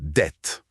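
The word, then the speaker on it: debt: Le B dans dette, c'est une lettre fantôme. Une lettre fantôme ? Oui, elle a été ajoutée à la renaissance pour faire un joli pour rappeler la racine latine, mais elle n'a jamais été prononcée.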